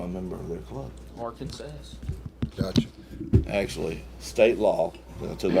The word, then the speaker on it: Arkansas: If you don't say our Kansas, you could be wrong. You could be wrong. Really? Yep. That's the proper way to say the name by government legislation.